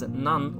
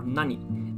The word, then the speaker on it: 何: way or another, and it's pronounced as nan or nani, depending on what word it is used with.